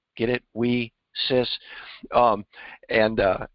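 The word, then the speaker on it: WiCyS: s women in cyber security and it's they pronounce it we sis get it we sis um and uh it's pretty good but uh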